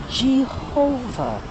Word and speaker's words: Jehovah: So I call Him Jehovah. The J with the G sound. Why? Because that's the pronunciation of the name.